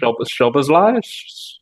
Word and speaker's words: Szoboszlai: I'm going to slaughter this name, but Szoboszlai?